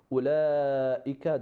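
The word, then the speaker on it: أولئك: Whenever you have like that sifr on the top of waw, that waw is silent, like in the word of ulaika, that waw is silent, or ulul albab or ulil albab, those waw is silent.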